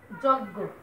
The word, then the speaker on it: যজ্ঞ: যজ্ঞ, লক্ষ্য করে দেখো, অন্তস্থ জয়ের কোনো উচ্চারণ আমরা বাংলা ভাষায় করি না, আমি আগেই বলেছি। অন্তস্থ জ মানে যত জায়গায় পাবে সব জায়গায় হয়ে যাবে বর্গীয় জ।